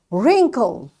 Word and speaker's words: wrinkle: Ren wrinkle.